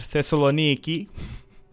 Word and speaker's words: Thessaloniki: byzantines holding out in thessalonica or what i like to call it thessaloniki the um the greek pronunciation on some what was